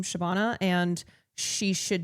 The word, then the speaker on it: Shabana: you can't spell or you can't pronounce Shabbana. S H A B A N A. Like that's Shabana.